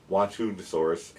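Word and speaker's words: Xuanhanosaurus: And in China, we have it's spelled with an X, but it's Wantunosaurus, and this guy's from China.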